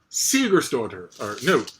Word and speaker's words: Sigurðardóttir: Oh yes, this is an Icelandic thriller, The Legacy, by Yrsa Sigurðardóttir, Sigurðardóttir. I believe the accent is on the first syllable of her last name.